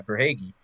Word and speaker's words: Verhaeghe: You have, excuse me, Carter Verhaeghe. I think that's how you pronounce his name. He's been For great Hague. after moving. Yeah, Verhaeghe.